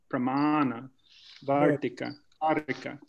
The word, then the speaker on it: Pramana Vartika Karika: So here's Pramana Vartika Karika. You want to pronounce them, Adam, slowly? Yeah. Pramana Vartika Karika.